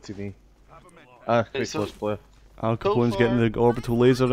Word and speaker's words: Al Capone: I just realised that it's not Al Capone, it's Al Capone. As in pawning.